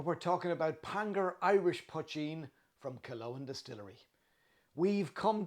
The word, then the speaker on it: poitín: Break it into its two syllables. The first is puch, like much, and the second is een, like bean. When you put them together, you get poitín.